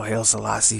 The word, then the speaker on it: Haile Selassie: And you know, Haile Selassie from, that's how you pronounce his name, from Ethiopia, was this